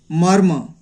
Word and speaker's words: मर्म: मर्म, इस तरह से मर्म, यानी लास्ट वाला म में मात्रा लगा हुआ है, लेकिन इसका उच्चारण यहाँ बीच में होता है।